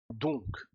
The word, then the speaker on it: donc: au conector de conséquence donc. Ahora aquí sí que llegamos a pronunciar k, donc, y este dans, la